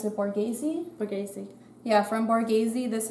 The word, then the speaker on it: Borghese: gonna use this concealer wheel how do you pronounce it Borghese Borghese yeah from Borghese this is hers um